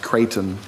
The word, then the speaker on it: Kraton: And so here recently, as mayor, people have been tagging me in a petition and emailing me about, I think it's pronounced Creighton facilities, or, you know,